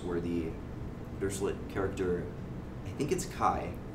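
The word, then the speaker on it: χ: the director it gets KY is the pronunciation of that X character where KY is a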